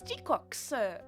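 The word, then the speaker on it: GQuuuuuuX: It's Gox. That's how you pronounce it.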